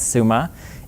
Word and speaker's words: Summa: We settled on the pronunciation Summa because if you say it the other way, it sounds like we're saying, I'm the CEO at some company or other.